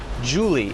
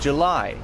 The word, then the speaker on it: July: pronunciation isn't very clear she says Julie instead of July so I'm going to